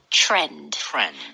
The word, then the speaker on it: trend: 됐던 거 같아요 맞아요 t 하고 R 하고 같이 있을 때는 이런 C 발음 현상이 생겨요 그래서 trend TR trend 이렇게 하면이